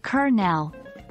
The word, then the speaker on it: colonel: meanings of existing words Colonel before the war some people pronounced it as Colonel however after interactions with American soldiers the prevalent pronunciation became kernel D-Day previously it was